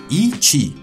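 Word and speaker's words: Yi qi: de este dinosaurio cuyo nombre se escribe así, pero que se pronuncia Yi Chi, y técnicamente esto no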